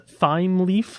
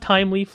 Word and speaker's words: Thymeleaf: Some people might pronounce it with, they might pronounce it as a Thymeleaf, like T-H is the, whatever, like the th sound or whatever. It's pronounced Thymeleaf, like time.